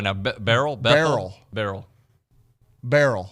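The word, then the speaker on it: Beryl: wa what's right now barrel barrel barrel barrel b e r y l it's like Daryl with a B but they don't even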